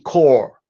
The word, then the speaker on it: corps: So these are marine core, all right, and marine corps. So these are troops. A corpse, spelled with an E at the end, is a dead body.